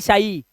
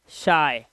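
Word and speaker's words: shy: शाय, don't be शाय, ना कि शाई, शाय, सिर्फ इतना।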